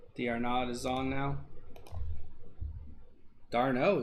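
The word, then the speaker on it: d'Arnaud: Darno is how it's pronounced.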